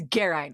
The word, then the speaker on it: Geraint: It's Geraint. Learn how to spell it.